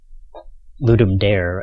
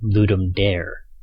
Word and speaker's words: Ludum Dare: video I will be referring to ludum dare as well ludum dare and not the correct pronunciation which I believe is ludum Dar that's because I learned